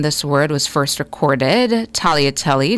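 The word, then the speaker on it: tagliatelle: Talia telly not seeing that but to use the word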